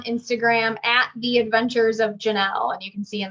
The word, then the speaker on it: Jonelle: at the adventures of janelle and you can see in the bottom corner it's j-o-n-e-l-l-e spelled very weird but pronounced normal um and i do